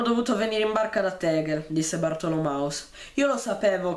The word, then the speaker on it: Tegel: La pronuncia tedesca corretta è Tegel.